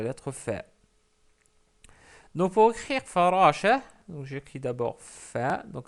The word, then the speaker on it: فراشة: Ensuite, on rajoute le t marbout parce que c'est farashatun. Mais comme on s'arrête sur le mot, on dit farasha. On l'écrit, mais on ne la prononce pas. Donc c'est farasha. Je m'excuse pour la shadda